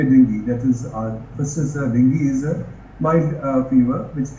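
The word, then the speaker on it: dengue: is like even though it is written as dingu it is the right pronunciation is dingi or Deni it's a viral infection transmitted to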